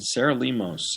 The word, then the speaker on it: Sarah Lemos: And next up is Sarah Lemos. Did I pronounce her name right? You did. Sarah Lemos.